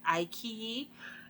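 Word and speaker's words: iQIYI: I fig I finally figured out how to pronounce it I key anyway the show is about college students it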